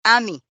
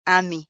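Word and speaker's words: 아미: las letras así porque el término en coreano es ami, o sea, literalmente es ami sin la r, ¿no?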